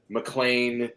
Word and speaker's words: MacLean: MacLean, there's just M-C. There's M-A-C-L-I-A-N, L-A-I-N, E's at the end, all sorts of different spellings, but when you pronounce them phonetically, MacLean. They're all the same.